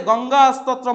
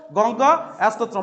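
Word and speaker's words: গঙ্গাস্তোত্রম্: স্তত্রম কি দেওয়া আছে গঙ্গা স্তত্রম উচ্চারণ হবে সবার ঠিক আছে গঙ্গা স্তত্রম বলতে হবে কি বললাম বলতো গঙ্গা স্তত্রম একটু আওয়াজ করলে অসুবিধা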